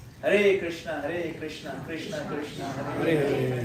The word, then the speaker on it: Hare Krishna: No, it's Hare Krishna. Hey mama, mama, mama, hey, hey. No, Hare Rama. Pronounce clearly. Pronunciation is very important.